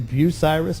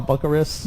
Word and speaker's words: Bucyrus: She's a flight instructor with Blue Skies Aviation in Bucyrus, Ohio. I said it right, right? Yes, you did. I didn't call it Bucharest? No, or or Bucyrus.